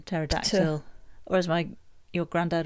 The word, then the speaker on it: pterodactyl: Silent P as in pterodactyl.